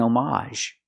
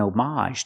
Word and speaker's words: homage: N, it was an homage. It's more common to hear that pronunciation. Again, the H is silent, but you have the a sound at the end. It was an homage to somebody.